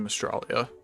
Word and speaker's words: Mystralia: back to Mages of Mystralia, or Mystralia. I need to get used to saying that correctly now, because we do know if they made the Australia joke, it's gonna be pronounced Mystralia.